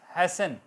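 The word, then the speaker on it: hasten: हेस्ट हैसन, T silent, EN बोला जा रहा है।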